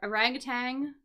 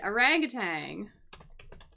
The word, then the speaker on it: orangutan: be kind of easy I think an arut orangutang yeah so we this word orangutang that is how I would uh pronounce that word even though it says like